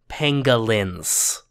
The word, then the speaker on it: pangolin: this is the only winner, because she loves pangolins, which are a real creature pronounced pangolin.